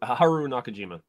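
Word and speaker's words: Haruo Nakajima: inside the Rodan costume suit uh Haru can pronounce his name for me help me out here Haru Haru Nakajima thank you he is also the man inside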